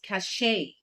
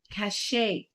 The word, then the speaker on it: cachet: It's cachet. It's cachet.